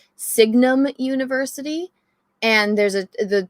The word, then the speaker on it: Signum: like themes okay so i pronounced it wrong it's called signum university and there's a